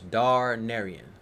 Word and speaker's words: Darnerien: in ER IE n so it's darn Arian that is the correct grammar grammatically spelled and said three syllables starred Marielle four syllables